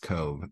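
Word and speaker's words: Cobh: and headed for sure Cobb or Cove pronounced Cove approached our luggage was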